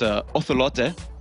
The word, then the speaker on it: Ocelote: Ocelot told me how to pronounce his alias and Peke's alias in Spanish in the proper. So it's Ocelote and X Peke.